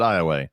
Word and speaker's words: Iowa: But if you're ever driving through Louisiana, pronounce it Iowa Yep. because that's how it's fucking pronounced.